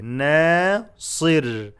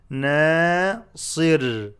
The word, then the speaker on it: ناصر: نون is light not نا and make the صاد heavy. ناصر ناصر.